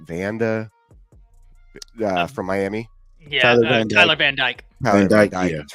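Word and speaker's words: Van Dyke: is it van Vanda from Miami yeah Tyler van djk that's right yeah I don't think van dijk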